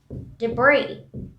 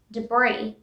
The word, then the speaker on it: debris: indict moving on to debris and now there's nests but it's debris s is silent debris debris next word is